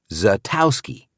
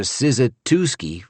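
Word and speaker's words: Szatkowski: If you've got any Polish blood, you know the S is silent and it's pronounced Zatowski.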